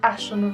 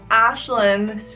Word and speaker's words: Aisling: said before how is Ashland's felt the way on my channel pronounced ashland I know it's confusing the way I spell is actually Gaelic and it is pronounced